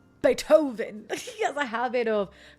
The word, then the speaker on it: Beethoven: Bethovven. Bethovven. Why did I say it like that? Beethoven.